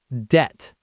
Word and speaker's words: debt: Debt. DBT. The B is silent.